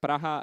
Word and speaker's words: Praha: this is Polish uh these are pronounced very similarly I'm not sure about the Ukrainian but the is praha and uh the Polish is not entirely praga but something in between uh but still these